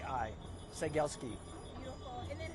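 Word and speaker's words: Cegielski: My name is Sagielski. Awesome. Did they spell it for me? C E G I E L like Lima, S like Sierra, K I Seielski.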